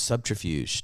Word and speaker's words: subterfuge: I would like to, use subterfuge to destroy.